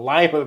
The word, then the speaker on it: Lima: grow a lot of lima beans there I'm like really and you know yeah like okay now I know how to pronounce it cuz now I associate it with lima beans on mispronouncing it in